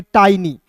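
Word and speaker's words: tiny: टिनी नहीं पढ़ेंगे। इसे पढ़ेंगे टाइनी।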